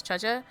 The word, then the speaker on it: Zhezhi: I'm trying to learn how to pronounce her name right, so it's Zhezhi.